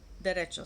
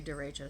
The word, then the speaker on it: derecho: have been through a direction storm that's how it's pronounced in spanish in english it would be a directo storm so um it